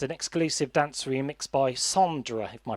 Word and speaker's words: Sondra: That song was accompanied by a music video and an exclusive dance remix by Sondra, if my pronunciation serves me correct. Sonda. Sondra, yes.